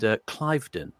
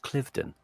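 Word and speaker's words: Cliveden: He he he mentioned Clivedon, and I thought it's pronounced Clifton.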